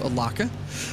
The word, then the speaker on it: Alaka: Then Matthew Alaka, who told me you say his name by rhyming it with Chewbacca. I say Matthew Alaka.